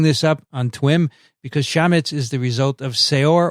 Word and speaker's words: chametz: During the 7 days of Passover, the commemoration of the Exodus, Jews are forbidden to eat chametz. Is that how you say it, Elio? Chametz? Yep, that's correct.